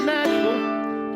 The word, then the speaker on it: Nashville: Supposed to be 2 syllables. This is Nashville.